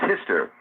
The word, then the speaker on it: Hister: The second is Hister. Now, Hister is an interesting code because Hister is the Easter with a silent H in some languages, and it's the Danube.